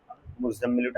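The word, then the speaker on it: مُزَّمِّلُ: এখানে দাঁড়ান দাঁড়ান, প্রথম উচ্চারণটা করেন তো মুজ, তাই না? দ্বিতীয় উচ্চারণ ঝাম, তৃতীয় উচ্চারণ মি, চতুর্থ উচ্চারণ লু। একসঙ্গে উচ্চারণ করেন, মুজাম্মিলু।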